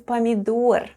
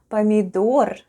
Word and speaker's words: помидор: With a stress on the last syllable.